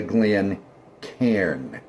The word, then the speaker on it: Glencairn: And it's not a Glencairn. It's a Glencairn. It's a two-syllable word, not three.